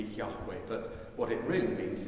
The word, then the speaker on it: Yahweh: and there was a mistaken understanding for a long time that that word spelled jehovah but we've moved on from then and most scholars agree that probably if they could pronounce the word of god it would be yahweh but what it really